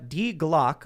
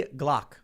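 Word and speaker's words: Die Glocke: I think the Die Glock, a World War II German attempt at an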